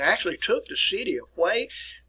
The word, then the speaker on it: Hue: And actually took the city of Hue. Hue is spelled H-U-E. And here it is right here, Hue, which is located on the Perfume River, by the way.